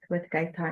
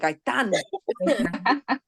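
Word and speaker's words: Gaëtan: Gaetan. Gaitan. Gaetan, Gaetan. Gaetan. See what because I read it in Spanish like Gaitan. Como Gaetan. Gaetan. Mhm. Like Gaston, but without the S.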